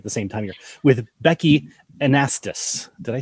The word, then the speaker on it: Annastas: With Becki Annastas.